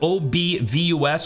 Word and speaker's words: obVus: It's spelled O-B-V-U-S, so if I say obVus, obviously I'm mispronouncing it. I know it's obvious.